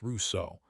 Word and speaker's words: Rousseau: Next time, Jean-Jacques Rousseau, pronounced Rousseau, and the explosive idea that human beings are naturally good, and it is civilization itself that ruined us.